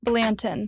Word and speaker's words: Blanton: Balentin. Balentin.